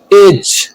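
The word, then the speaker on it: edge: कब होता है, जी से पहले आने वाला डी साइलेंट होता है, जैसे ब्रिज, जज, एज।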